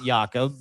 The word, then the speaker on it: Jacob: Jacob YaKob is how you say his name in Denmark.